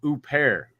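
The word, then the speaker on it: Huppert: ] name okay okay her last name is oop hair who pear like I thought I thought the same thing Hooper but uh I could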